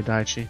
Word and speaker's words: Daiichi: is looking wildly around you pronounce that J there's an eye on there Daiichi it's J IPS chips correct